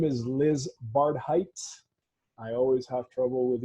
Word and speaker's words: Barhydt: really really good friend her name is Liz barred Heights I always have trouble with your last name Liz and it's because of my pronunciation she is a see I got it